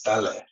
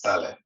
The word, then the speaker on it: Ta Lę: It's Tale instead of yeah, it's Tale. Okay. It doesn't. Yeah, the meaning is not. It has nothing to do with tail, but yes, Tale is the correct Okay. pronunciation. Tale.